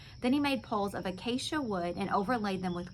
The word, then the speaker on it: acacia: Acacia wood. Somebody on here told me how to say it. Capital A, capital K, sh, as in Brady Bunch. So acacia.